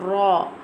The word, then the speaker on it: ر: Now I'm telling the pronunciation of ra. How we'll pronounce the ra? Ra pronounced from the edge and the top part of the tongue touching the gums of the top four front teeth, like this.